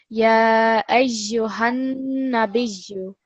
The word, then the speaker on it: يا أيها النبي: Ya ayyuhan nabiyyu. Hanna. So the emphasis, the stress is on the noon. We're not going to make it any longer.